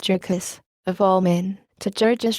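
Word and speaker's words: Jurgis: she had just been married to Georges, asterisk pronounced Jurkis, of all men, to Georges Rudkis, he with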